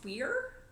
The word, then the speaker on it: Weir: I think it's pronounced weir like that's weird.